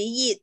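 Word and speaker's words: 亿: Nah, Wan-Wan ini di dalam bahasa Hakka maupun bahasa Mandarin jadi Yit, Yi. Yit, Yi. Ya, jadi Wan-Wan ini kita bacanya Yit, Yi.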